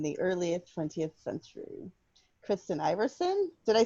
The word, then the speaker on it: Iversen: Kristen Iversen, did I say your name right? Iversen?